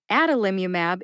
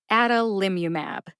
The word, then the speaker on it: adalimumab: how you say it the first and third syllables are emphasized that's the a or